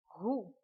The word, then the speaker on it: roux: R, ou, roux. We will not pronounce the last letter X. We will say only roux.